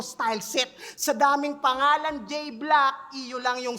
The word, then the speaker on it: J-Blaque: set sa daming pangalan J black EU lang yyung silent o j black EU silent J main paano ba mag-isip to simot pre J black yung e tsaka u doon pwede ng i-silent ah silent talaga yung